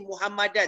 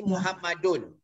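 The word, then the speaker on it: مُحَمَّدٌ: Dia tak akan jadi Muhammadan terus. Dia akan jadi Muhammadun.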